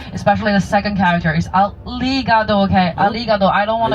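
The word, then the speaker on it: ありがとう: this word you got to make sure your pronunciation is right. Especially the second character is aligado. Okay. Aligado. I don't want to hear anyone sayado. Alrigado.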